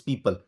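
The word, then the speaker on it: people: बात आपको बता दूं, इस वर्ड को मिस प्रोनाउंस किया जाता है, लोग प्यूपल कहते हैं। इसमें जब O साइलेंट है तो फिर ये प्यूपल हो ही नहीं सकता, इसका सही तलफ्फुज पीपल।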